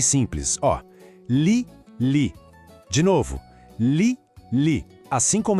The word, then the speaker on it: lit: De novo, lit. Assim como em appartement, o T no final é mudo, a gente não fala.